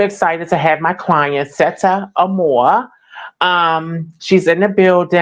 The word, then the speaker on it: Sette: Seta. A lot of people say that, but it's just basically short for Chrisette. So I just Cassette. took, Okay. yeah, but then I put Uh, set and then more, and then there you go.